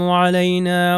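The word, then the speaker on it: علينا: پہ چلتے ہیں۔ السلام علینا وعلی عباد اللہ الصالحین۔ آپ یہاں پر دیکھیے السلام علینا، عین سے ہے علینا، اور یہ نون الف ہے، اگر میں نون الف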